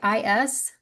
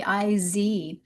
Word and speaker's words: is: They're super simple words like is really should be iz. And so instead of saying don't say is. It's actually a Z sound.